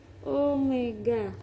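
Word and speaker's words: ω: Sedangkan ini bukan W ya, tapi bacanya omega.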